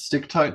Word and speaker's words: Stichtite: For me, it is a name that has never made sense, and I love referring to it as Stichtite Serpentine because the CH is a K.